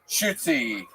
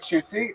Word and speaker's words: Shootsie: One more time for Shoots, everybody. How do you say it? Shootsy. Come on, make some noise for Shootsy, everybody. Hi, guys. My name's Shootsie.